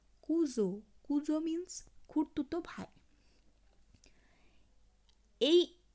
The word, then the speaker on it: cousin: আবার যদি কোনো ওয়ার্ডে এস থাকে, সেই এসের অংশটুকু উচ্চারণ হয় জেডের ন্যায়। আমি আগেই বলেছি আমরা চেষ্টা করব জয়ের মতন উচ্চারণ না করে জেডের মতো উচ্চারণ করা, সেটা ফ্রেঞ্চ ল্যাঙ্গুয়েজের উচ্চারণের শুদ্ধতা অনেকটা বজায় থাকবে। যেমন COUSIN, কুজো।